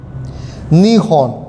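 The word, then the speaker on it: 日本: अब जब इसके साथ हॉर्न लगा होगा तो ये हो जाएगा नी हॉर्न। निहॉन, निहॉन का मतलब जापान।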